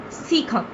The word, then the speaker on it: cecum: Cecum. Sorry students, in my previous lecture I pronounced it wrong. Its pronunciation is cecum, colon and rectum.